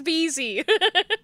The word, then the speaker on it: BZ: gets my name wrong my name is Beezy it's not Jersey it's BZ um it's it's very